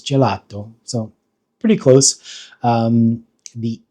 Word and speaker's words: gelato: Um, the e is pronounced e and then the a, the English a, um, is pronounced a, and then the o is more of an open o o.